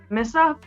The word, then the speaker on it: Missa: know how to say Missa? Because people say like Missa, or they pronounce it different. Yeah. But it's Miss. They don't pay attention to the A being there. Yeah, just ignore that.